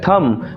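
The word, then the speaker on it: thumb: আরে না না ইংলিশে এটাকে বলা হয় থাম। বানাম টিএইচ ইউএমবি হলেও বি কিন্তু সাইলেন্ট আছে। থাম উচ্চারণ হবে না। হবে কি? থাম।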